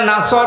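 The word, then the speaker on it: نصر: যদি মুখটা গোল না করে সিন দিয়ে উচ্চারণ করেন, অর্থ হয়ে যাচ্ছে, হে নবী, যখন শকুন আসবে, ঈগল পাখি আসবে, তখন আপনি বিজয় পাবেন।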